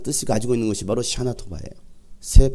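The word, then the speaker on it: שנה טובה: 샤나토바.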